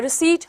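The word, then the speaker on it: receipt: आई आएगा ठीक है तो हमारा पीस में साइलेंट होता है रिसिप्ट हमारा वर्ड ये होता है ओके तो हमारा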